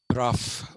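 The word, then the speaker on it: Brough: CB Merson is actually Crawford Bruff b r o u g h pronounced R mcferson David goer they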